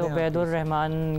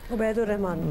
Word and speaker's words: Obaid ur Rahman: बिल्कुल, मेरा Facebook page है मेरे ही नाम से, उबैदुर रहमान के नाम से ही है. उबैदुर रहमान, बिल्कुल, स्पेलिंग ओ से ओ बी ए आई डी उबैदुर रहमान.